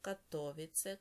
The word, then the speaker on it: Катовице: В польській мові наголос в більшості падає на передостанній склад, а у чеській на перший склад. Отже, Варшава, Катовице, Краків, Переми, Перемишель, Сосновець, Прага, Карлові Вари, Ліберець, кладно, Тепліц.